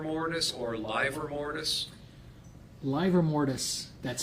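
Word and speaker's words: livor: fibers okay now are you also familiar with liver mortis or liver mortis live or mortis that's spelled l-i-v-o-r mortis is the term that's used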